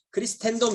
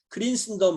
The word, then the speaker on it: Christendom: 네, 크린스덤, 이게 크리스텐덤 이렇게 발음하면 이게 라틴어식 발음이고요. 크린스덤 이렇게 발음해 영어식 발음이 되는 것입니다.